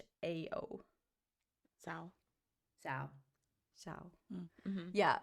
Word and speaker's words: Xiao: Xiao.